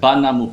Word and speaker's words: 876: another agency outside of 765 Pro 876 Pro is spelled banamu Pro banamu banam Baio this is the number